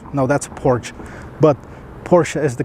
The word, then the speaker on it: Porsche: By the way, for those of you that don't know, it's Porsche, not Porsche. Porsche is something you sit on, maybe in front of your house. No, that's a porch. But Porsche is the correct pronunciation of it.